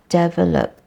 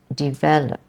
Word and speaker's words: develop: Develop, is not develop, as many Malaysians say. It's the E sound and not the S sound. It's develop. Actually, the stress is in the second syllable, develop, and not develop, because then you change the sound altogether in the first syllable.